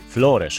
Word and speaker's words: Flores: Wróćmy na moment na Corvo, z którego leciałem na Flores lub Flores, jak wymawiają mieszkańcy.